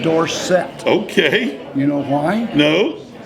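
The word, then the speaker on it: Dorsett: at pit as Tony dorson all of a sudden he changed his pronunciation of his last name to Tony Dorset okay you know why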